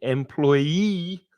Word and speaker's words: employee: let's go this way employee has the stress on the final syllable the third syllable and also there's changing